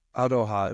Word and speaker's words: aroha: so that aroha, am I pronouncing it more or less correctly?